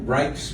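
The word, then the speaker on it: Rijks: angry man rushed through reich's museum r i j k s pronounced reichs in amsterdam until he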